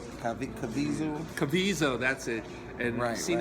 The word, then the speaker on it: Caviezel: And Jim, and I always get his name wrong. Caviezel. Caviezel, that's it.